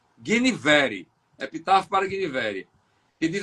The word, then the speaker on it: Guinevere: O meu poema chama-se Epitáfio para Guinevere, que eu sigo a pronúncia do meu vaqueiro, que já foi embora também para a imensidão, Damião, Guinevere.